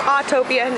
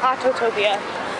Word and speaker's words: Autopia: how it tells time wrers pronounced autopia not autotopia and there were three